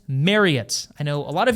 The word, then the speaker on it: Marriott: like it or not, it is Marriott like Chariot. Marriott technically has six membership